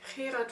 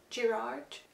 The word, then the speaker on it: Gerard: And then we have Gerard van Honthorst. It's not Gerard. Zo is Gerard van Hond Horst.